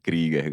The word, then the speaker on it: Krieger: Krieger, é a pronúncia correta.